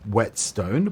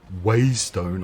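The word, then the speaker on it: whetstone: or radial menu and yes it is pronounced wet stone please don't listen to people who stay way stone or something ridiculous like that they're probably the same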